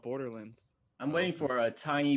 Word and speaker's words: Borderlands: that how it's pronounced is it really borderlands and i've just been saying it wrong i yeah i i just don't think anyone really stresses it as much as you do like you're clearly saying lands yeah like but it makes sense because if you said if you when i think about it it's a wonderland tomorrowland like you always say it that way but i don't know it just always came out borderlands i'm waiting for